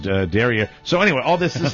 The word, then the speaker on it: derriere: Derriere, pronounced derriere.